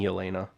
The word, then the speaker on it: Yelena: It is Queen Elena.